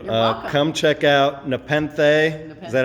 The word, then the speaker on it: Nepenthe: Come check out Nepenthe.